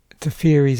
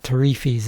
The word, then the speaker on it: Teferi: Right, Teferi's Honor Guard, not Tarifis as I sometimes mispronounce it.